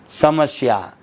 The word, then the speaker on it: समस्या: शब्द है बड़ी गंभीर समस्या है, समस्या में शंकर वाला स नहीं आएगा, दंत्य स आएगा, समस्या।